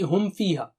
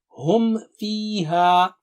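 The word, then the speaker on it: هم فيها: Similarly, hum fiha. If you are not careful, it will be hum fi. So Mim will not be pronounced properly. So repeat, hum fiha.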